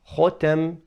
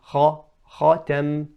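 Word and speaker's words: خاتم: So in the word, and I'll pronounce it incorrectly, khotam, khotam, khotam, while it should be khatam, khatam. So we don't want to mix the fatha with a dhamma.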